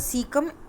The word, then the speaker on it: caecum: Small intestine and large intestine which is called सीकम, CAECUM, उसकी spelling है सीकम ऑफ the ruminants.